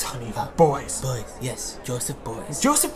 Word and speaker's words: Beuys: So, without further ado, let's look at the work of Joseph Beyonce. It's pronounced Beuys, honey. Beuys.